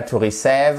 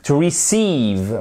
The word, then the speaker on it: receive: To receive et pas to receive. Attention, to receive. Vous avez un accent tonique ici, c'est-à-dire que c'est cette partie du mot qui est accentuée.